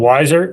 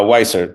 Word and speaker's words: Weisser: recently I know and wiser right is that am I pronouncing that right uh weisser but yeah we had